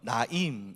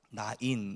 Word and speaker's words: 나인: 예수께서 나인이라고 하실 제자와 우리가 하니이 나인이라는 말은 원래 이제 어 히브리어로는 나임 이렇게 발음이 나는데 이제 헬라어로 발음을 하니까 나인 이렇게 발음이 돼요.